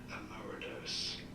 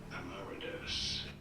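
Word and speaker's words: emeritus: You do want to stress the second syllable emmeritus in American English. However, it is generally said as Ammeridus. Ammeridus.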